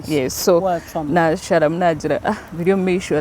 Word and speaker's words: Biryomumaisho: gona ngaga bamaringwa yes so na sharam nagira Biryomumaisho like it's catchy first of all umuntu naruhurira